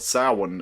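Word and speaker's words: Samhain: But basically uh it's was called Sin at the time and it's I don't I still don't know why they pronounce it sin when it's spelled Sam Hayne.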